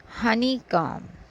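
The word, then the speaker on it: honeycomb: थम उसके बाद है हनी कम थम के बाद हम जो नेक्स्ट वर्ड पढ़ रहे हैं वह है हनी कॉम इसमें बी है मगर हम बी नहीं पढ़ेंगे हनी काम शहद का छत्ता कम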